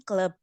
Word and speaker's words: club: Ya, bacanya club, club. Club. Bukan club, tapi club. Club. Jadi U itu dibaca A ya.